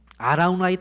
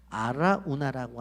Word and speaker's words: 아라우나: 역다상 21장에 가보면 이것이 오르난의 타작마당이라고 하는데 아라우나라고 하는 것은 여부수식 이름이고, 아라우나는 바로 이 여부수식 이름이고, 오르나는 히브리식 발음이에요.